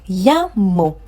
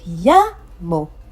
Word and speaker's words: llamo: Llamo. Don't forget, we talked about the fact that when you see a double L, the sound you get is y.